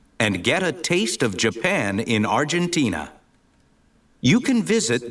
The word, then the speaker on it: Japan: this word it is Japan Jaan with a stress on the second syllable okay Japan in Argentina